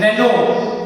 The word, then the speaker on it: Renault: तो वो महिंद्रा और रेनो, जिसको आप लेमैन में रेनोल्ट कह देते हैं, उसका सही प्रोनाउंसिएशन रेनो है, RENAULT, रेनो, जिसकी डस्टर वगैरह आती हैं.